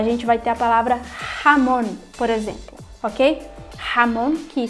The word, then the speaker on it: jamón: A gente vai ter a palavra jamón, por exemplo, ok? Jamón, que se escreve com J, significa presunto.